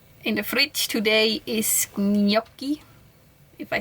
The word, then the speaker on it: gnocchi: In the fridge today is gnocchi, if I said it right. Gnocchi? Gnocchi. I extra watched the video from an Italian person to learn how to pronounce it, and they say gnocchi.